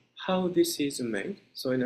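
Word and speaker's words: 法: It is pronounced either ho, or in our Japanese indigenous pronunciation, it can be translated as nori, but it means, in a secular language, it means law.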